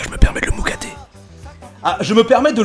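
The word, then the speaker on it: moukaté: Je le connais personnellement, c'est pour ça que je me permets de le moucater.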